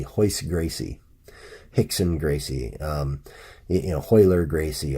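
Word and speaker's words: Rickson: hoist as though it was a chai yce it's spelled ro YC e hoist Gracie Hickson Gracie you know hoyer Gracie oh all those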